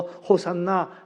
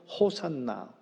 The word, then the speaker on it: 호산나: 했던 그 찬양이 바로 호산나 호사 아나 호사나 원래 이제 히브리 얘기하는 건 호시 아나라 발음한다고 하는데 우리 발 우리 번역은 호산나를 되어 있지요 하나님 지금 우리를 살려